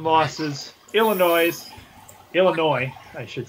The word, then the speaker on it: Illinois: Illinois, I should say. It's not noise. It's Illinois. This S is silent.